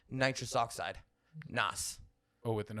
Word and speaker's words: Nas: It's like Nas. Nas. And they would say it with like a Z instead of an S. That's a tough sound for me. Nas. That's how it's said. Now his name is Nasir, so sure it's Nas, but it's Nas is the way you say it.